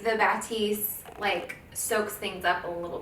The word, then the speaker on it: Batiste: I had been using Batiste, yeah, that's how you say it, before that